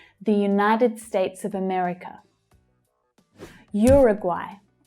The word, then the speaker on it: Uruguay: Uruguay. Uruguay. Okay, so you can hear at the end there that AI is pronounced as I, like by.